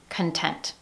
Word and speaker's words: content: When you learn the word content, for example, I feel content. In that word, you see the O vowel. But in spoken communication, we hear the schwa, content, content. Remember the sound, content.